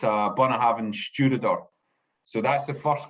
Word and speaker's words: Bunnahabhain: non-aged expression of bonner having and it's a bunner haven studio so that's the first whiskey that we're